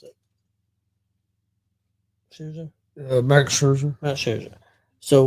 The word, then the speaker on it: Scherzer: I never can pronounce it. Sherza.